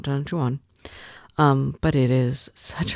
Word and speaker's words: Don Juan: look he's singing like Don Juan and I'm like oh lived in California too long I thought it was Don Juan. It's not it's two syllables.